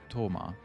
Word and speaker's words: Thoma: being affiliated with Inazuma, Thoma, who we would just pronounce Thoma because it's a very simple name.